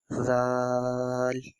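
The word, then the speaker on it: ذ: So to pronunciate Tha and Zal, we have to use the same technique. We have to touch the tip of our tongue with the corner of our upper teeth.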